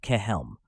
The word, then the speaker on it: Chelm: on the economics of Chelm pronounced kelm though imagination is the